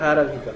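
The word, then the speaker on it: hierarchical: মানে ওটা হচ্ছে হায়ারার্কিক্যাল, ওটার উচ্চারণটা হচ্ছে হায়ারার্কিক্যাল, ঠিক আছে।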